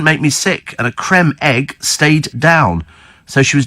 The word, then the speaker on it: Creme Egg: ago didn't we on is it Cream Egg or Creme Egg and it's spelled creme as in c m e so consequent it's a Creme Egg and Steve says Ron